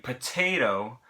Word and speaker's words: potato: So take the word potato. Okay? In potato, the stress is on the middle syllable.